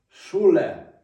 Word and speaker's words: Schule: Читається як українське ш. Шуле.